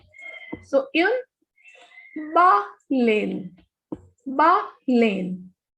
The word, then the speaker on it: baleine: Baleine. Whenever E is at the end and it has no accent, it has no sound. So we will not pronounce this E. The pronunciation of this will be baleine.